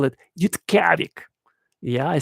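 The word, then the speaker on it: Utqiagvik: They call it Yutkavik. Yeah, I said it correctly to the best of my ability. They call it Yutkavik. That's how you say it in their Eskimo language there.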